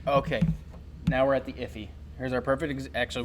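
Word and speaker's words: IIFE: of coined by the industry which is an iffy which is spelled iif ii and actually better slide to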